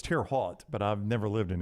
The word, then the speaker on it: Terre Haute: thing I mispronounced today I always call it Terry Haute Terry Haute it could be I thought it was tear hot but I've never lived